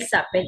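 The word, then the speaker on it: s'appellent: Okay, so ent is silent. So if you are saying my parents, they call themselves, means their names are. So in that case, you use il s'appelle. Okay, il s'appelle, ent is silent.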